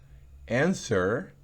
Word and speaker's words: answer: Answer, se oye como una T, en verdad que sí, pero una T muy suave, bien pronunciado se oye esa T. Pero no seamos tan enfáticos en la T que digamos answer. No, así tampoco es answer.